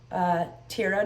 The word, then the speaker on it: Tira: So I figured out who she was speaking about, which happened to be Tira Nicole. Make sure I say Tira, not Tyra.